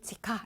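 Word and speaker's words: 地下: 같아요 발음도 완전 착해요 땅지 자는 치 그죠 그대로 치 하자가 카 그래서 지하 그러면 일단은 지카 이렇게 하시면 돼요 되셨어 그죠 지하 1층이 다름 치카 이까이 이렇게 해서 같이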